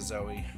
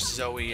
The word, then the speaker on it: Zoe: So now we have a clear path to get to Zoe.